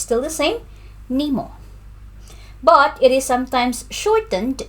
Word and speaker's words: Nimo: So pronunciation, Nimo. It's on the first syllable. So Nimo.